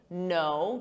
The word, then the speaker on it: know: There's a silent K on the verb to knead, just like night, a night, silent K, knit, silent K, know, to know, sounds exactly the same as know.